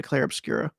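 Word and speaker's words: Clair Obscur: It is French, so. It's Claire Obscura sounds more correct too, but yeah, there's no A at the end. It's just Claire Obscura.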